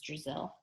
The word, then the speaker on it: Drazil: just a little joke brazil rhymes with brazil i thought it might help you remember my name karen slapped brazil brazil